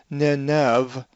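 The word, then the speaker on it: Νινευή: the epsilon, and then so it's Nineveh with the epsilon diphthong, Nineveh, and the pronunciation is accented on the iota.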